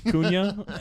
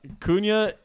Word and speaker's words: Cunha: look that good last year or as Riley pronounced it Matthew Matthews cunha um how would you pronounce it like is